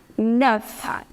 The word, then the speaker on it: neuf: That is neuf.